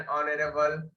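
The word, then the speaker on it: honourable: An elephant, N ऑनरेबल। ऑनरेबल में H silent होता है तो आ से शुरू होता है।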